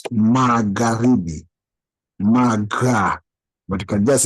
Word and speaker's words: Magharibi: So you don't pronounce the H.